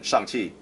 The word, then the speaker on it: Shang-Chi: So the sh in Shang-Chi, you're kind of doing like this, and then but your tongue is pressed up against the back of your teeth.